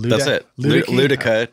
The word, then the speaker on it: Luedecke: Luedecke, technically, but everyone pronounces that one wrong.